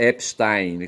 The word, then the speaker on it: Epstein: Eu falo Epstein, mas fala assim constrangido porque eu acho que esse nome é alemão, tá certo? E deveria pronunciar Epstein, como Trump, eu falo Trump, tá certo?